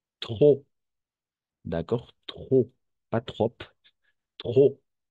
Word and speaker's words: trop: Le P à la fin est muet. Trop.